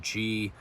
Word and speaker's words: Gila: taking the gila river alternative it's actually spelled g-i-l-a and it's pronounced uh gila and that alternative follows the